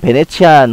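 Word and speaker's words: Venetian: 이탈리아어로 되어 있는 베네치안 호텔은 영어로는 비니시언이라고도 발음하는데요.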